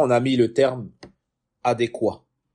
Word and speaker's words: adéquat: Je disais avant adéquate, naam, et hier, alhamdulillah, j'ai appris que adéquat, c'est lorsque c'est au masculin, adéquate, on prononce cette terminaison que lorsque c'est au ce son final que lorsque c'est au féminin.